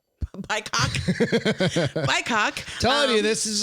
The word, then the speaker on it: BIPOC: It rhymes with POC. BIPOC.